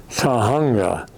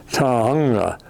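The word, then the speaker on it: Tujunga: To a a town called Tahunga. And uh we had everybody in the car had trouble pronouncing it. Tahunga.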